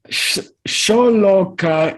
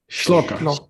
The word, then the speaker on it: shloka: Sholoka is the Tibetan mispronunciation of shloka, Uh-huh.